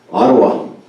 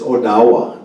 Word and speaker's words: Ottawa: that we're hearing today even if you look at uh Ottawa that's not even a word it's it's oawa the way it should be pronounced it's the way that